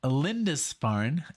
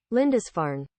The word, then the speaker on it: Lindisfarne: I actually had to look up the pronunciation. So it's called Lindisfarne, and I did it this way. Let's see if this records itself. Lindisfarne. Lindisfarne.